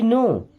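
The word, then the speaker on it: know: आई नो what you mean? क्या पढ़ते हैं? आई। आई मीन्स होता है मैं। नो। देखिए इस वर्ड में के और डब्ल्यू दोनों साइलेंट है। ओके? इनको नहीं पढ़ते हैं।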